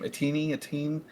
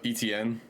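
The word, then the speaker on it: Etienne: Atini. Oh, Travis. Uh, ETN. ETN. Yeah, that's the one.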